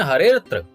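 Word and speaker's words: हरेऽत्र: यहां उच्चारण के समय हरे अत्र ही कहा जाता है, अवग्रह का उच्चारण नहीं होता।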